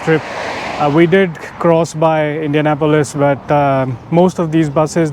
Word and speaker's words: Indianapolis: because I call it Indiana police but I think the Americans call it Indianapolis so they're this emphasis is on a different syllable but anyways it's a